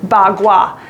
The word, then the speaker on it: bagua: martial arts uh called bagua now i'm going to spell it for you p a dash k-u-a pronounced as a b and a g bagua and i learned some